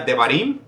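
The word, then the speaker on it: דברים: desierto tenemos a Deuteronomio que en hebreo se pronuncia debarim y quiere decir palabras cosas o leyes y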